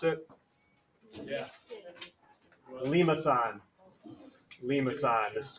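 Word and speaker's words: limaçon: When they're different, this is what's called a, if you want to try to pronounce it, Yeah. Limason. Limason. This is called a Limason. Lemiscon.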